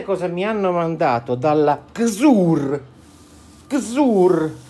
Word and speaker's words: CZUR: Il nome si pronuncia Xur, anche se a me piace pronunciarlo Xur, ma si pronuncia Xur, e sul loro shop ci sono tre modelli.